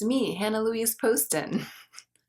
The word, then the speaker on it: Poston: it, but I don't really care if people mispronounce it, but it is Poston, in case anyone's been wondering.